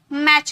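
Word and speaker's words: match: मैच कहते हैं, मैच नहीं कहते, ओके। फैच, टी साइलेंट है, विच, टी साइलेंट है, सब में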